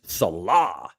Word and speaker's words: Salah: Jackpo Nunez Salah. Nice. Why are you saying Salah like that? Because that's how you say it. Muhammad Salah. Salah. That's how Mo says it.